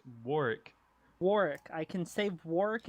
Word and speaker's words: Warwick: It's not Warwick. It's Warick.